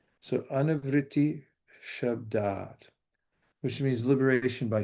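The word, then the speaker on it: anāvṛttiḥ śabdāt: to do that, but the S with a slash over it is pronounced SH, like in shine. And the A with the line over it means that it's long. So anavriti shabdat, which means liberation by sound.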